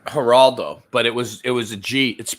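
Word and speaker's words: Geraldo: you remember all right haraldo but it was it was a g it's spelled with a G but it's pronounced like an H because it's Spanish haral okay it's not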